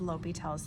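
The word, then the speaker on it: L'Hôpital: of this page is lel's theorem here I've got the S to indicate that sometimes you'll see the s in there it is not pronounced Hospital though all right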